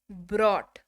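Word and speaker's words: brought: लाया, ब्रॉट। बोला ना, उच्चारण जो है वो कंफ्यूजन होता है।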